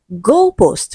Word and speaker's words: goalpost: Goalpost first syllable. So goalpost is the answer to this question because it has a different stress pattern.